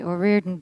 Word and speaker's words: O'Riordan: Now, is it Orian or Orordan or how do you say your last name exactly in the full Irish? Come on. I say Orian Burton.